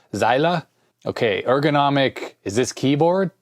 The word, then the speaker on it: Zeile: I know in German it doesn't really have silent letters. Like in English, the E might be dropped at the end, but I think in German you pretty much always pronounce that. So, Zeile.